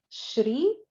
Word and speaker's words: Shri: So in that there is the Sa, Sha, Sha, and all 3 are very different pronunciations. So it is neither Sa nor Sha, it is the Sha. Shri with an R.